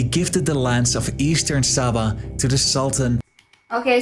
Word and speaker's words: Sabah: the lands of Eastern Sabah to the sultan okay so the pronunciation is Saba of Sulu these are